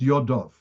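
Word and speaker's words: ידיו: It's written Yodoi, and it's pronounced Yodov.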